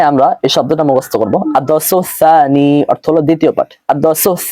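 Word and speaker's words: الدرس الثاني: ভুলটা করা যাবে না প্রথমে সিন এরপরে সা রয়েছে আদারাসুস সানি অর্থ হলো দ্বিতীয় পাঠ এখানে আমরা এই শব্দটা মুখস্ত করব আদসুস সানি অর্থ হলো দ্বিতীয় পাঠ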